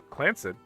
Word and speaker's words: Clance: The Clance Trust, pronounced Clanced Trust, is a highly unusual corporate arrangement named after Clancy Edward Roottrees.